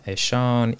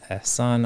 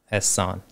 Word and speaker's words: Ehsan: If you can say Ehsan, I'm happy with that, but I found the closest that you can get to my right pronunciation is like Ehsan, just sun, like just the sun in the sky.